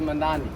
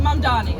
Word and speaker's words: Mamdani: Yeah, I love Mamdani.